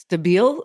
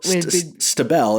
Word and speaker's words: Stabell: So we had there's a band called Stable Days, and it's spelled Staebell. And then there's a construction company, Stabell Construction. Stabile? Stabell.